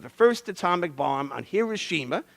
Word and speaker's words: Hiroshima: first atomic bomb on Hiroshima some people pronounce it hoshima uh kills maybe 100